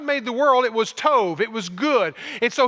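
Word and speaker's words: טוב: and that word better is the Hebrew word Tove all right didn't Sato I said Tove okay put a V at sounding at the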